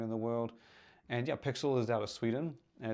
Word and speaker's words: PXL: but it is spelled pxl um how to pronounced pixel so they launched not that long ago but